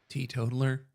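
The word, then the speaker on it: teetotaler: the they tealer or they pronounce that Tea totler.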